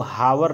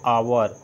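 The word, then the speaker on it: hour: है यह जो यूअर इसको हावर नहीं पड़ते अगर हावर पढ़ते तो यही लगता है इसको हम पढ़ते हैं आवर तो आवर होने से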